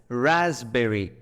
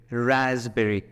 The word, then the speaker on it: raspberry: you take this word the letter p is silent in it so how do we read this we read it as raspberry raspberry the spelling is given